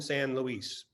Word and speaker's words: San Luis: wonderful educational website uh it's spelled like louis so it's mission san luis or basically the church